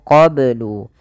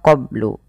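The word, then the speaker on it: قبل: Min qoblu yastaftihun kemudian mafal qoblu ini bnya harus dipantulkan karena ia ada bacaan qolqalah maka Bacanya adalah Min qoblu kesalahan yang terjadi dalam membaca Qalqalah tidak memantulkannya contoh qoblu atau menambahkan Hamzah qab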